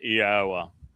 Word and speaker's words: Yahowah: He is speaking to him, and he says, Yahowah. And it's not hard, really. All one has to do is look at the verbal basis of the name.